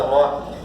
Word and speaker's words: loci: O critério ratione loci, escreve loci, mas pronuncia loci, vai definir a competência territorial.